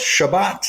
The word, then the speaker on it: Chebat: engage I am ready let's do this chabat that's the correct pronunciation is that decent at least uh it's close Shabbat is Shabbat Shabbat yes that sense so